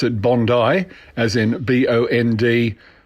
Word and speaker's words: Bondi: it's a big beach in Sydney and you pronounce it Bondi as in Bo ND - ey e even though it is spelt Bondi bo in di so it's Bondi and it's Bondi blue Dave you got caught